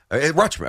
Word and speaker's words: Rutschman: Rutschman. Rushman. I said it right, Rushman. right? Rushman. Yeah, Rushman. You just kind of swallow the T.